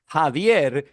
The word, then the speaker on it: Javier: The problem is in Spanish, Javier is how it's pronounced.